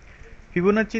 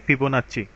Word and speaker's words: Fibonacci: share করার চেষ্টা করব ফিবোনার্জি নিয়ে প্রথমে একটা কনফিউশন ক্লিয়ার করে দিই অনেকে এটাকে ফিবোনা অনেকে ফিবোনা কি বলে ডেকে থাকেন মূলত এটার উচ্চারণ হবে সঠিক প্রোনাউন্সিয়েশন হবে ফিবোনাচি আপনার যদি কোন ধরনের